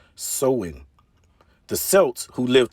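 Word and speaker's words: Samhain: back to the ancient celtic festival of sawin pronounced sowing the celts who lived 2 000 years ago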